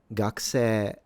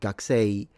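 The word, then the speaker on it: 学生: You can say gakuse. Or gakusei.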